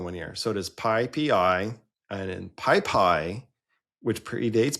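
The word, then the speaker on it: PyPI: So it is pippi and in pipi which predates pipi um is the python uh JIT interpreter written in Python.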